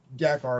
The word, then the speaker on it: Dakar: Dakar, and it's Dakar is how I usually say it.